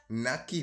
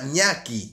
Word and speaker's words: Ñaki: Naki Boys. Yo pensaba que era una chica, loco. ¿Cómo se llama? Ah, Ñaki. Ñaki, yo Naki. ¿Por qué siempre soy malísimo pronunciando los nombres de los artistas?